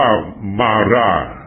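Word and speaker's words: Marat: มา รัก ให้ ฟัง อ่าน ว่า มาร่า เพราะ ว่า ใน ฝรั่งเศส ไม่ ออก ู ที ข้าง หลัง มาร ชื่อ ทั้ง หมด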